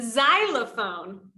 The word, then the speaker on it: xylophone: But sometimes it can make a Z sound, like in xylophone.